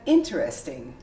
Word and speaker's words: interesting: a question isn't that interesting and but the most common way would be interesting you completely omit the e and this becomes interesting interesting that would be